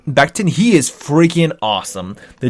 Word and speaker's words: Becton: Honestly, I would draft the guy out of Louisville, the big time offensive tackle, Mika Beekton. Beekton's how you say it? Becton.